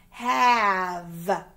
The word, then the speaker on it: have: that in this one the a is a short sound a short vowel have and we don't hear that e i have some cookies